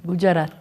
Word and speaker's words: Gujarat: Sonia de Otto es experta en no violencia, es académica de la Universidad Gujarat en la India. ¿Sí lo pronuncié bien, Sonia? Gujarat.